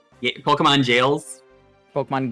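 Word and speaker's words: Gaol: Pokemon jails. Pokemon gals. No, it is it is actually pronounced jail.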